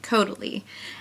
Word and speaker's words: Caudalie: And she goes, it's like totally, but it's with a C, Caudalie.